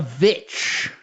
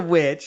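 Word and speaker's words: VVitch: that we would review the vish it is the witch I don't know why they spell it with two V's but it's the witch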